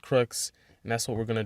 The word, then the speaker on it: Crookes: was to call YouTube one of those YouTube pronunciation channels told me it's crooks okay so I'm going with crooks and that's what we're